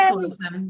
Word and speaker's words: Callosum: And we're just Callosum. The go is just our URL. So Callosum.